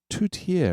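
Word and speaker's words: tourtière: Tutier and it's uh it is t o ur t i e r e. It's pronounced tutier. Tuttiier.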